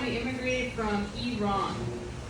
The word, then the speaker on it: Iran: So if you pronounce it correctly, which is Iran, you're against the war. We like you. And you get a free Persian rug at the end of the show. Yeah. If you are for the war, you pronounce it Iran. Right. You're laughing because some of you do call it Iran. So where are you running to? Right. It's not pronounced that way.